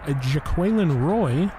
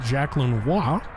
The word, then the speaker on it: Jaquelin Roy: 2 by Daniil Hunter, Harrison Phillips, Jaquelin Roy, official pronunciation, not Jacqueline Waugh.